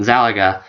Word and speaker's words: Yxalaga: is that is because his name is spelled like galaxy only backward and there's an a so yes there is a silent y at the beginning of his name it's y x